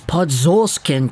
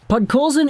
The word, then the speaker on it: Podkolzin: seeing how good this Podzolskin guy was. And I say it intentionally like that because some people were not really pronouncing his name right in the time. Podkolzin in the Hlinka-Gretzky tournament was an absolute force amongst boys.